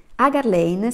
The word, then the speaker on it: Hagar Lane: e secondo libro sono tutte e due qui agar lane si pronuncia si si presenta così sono un ingegnere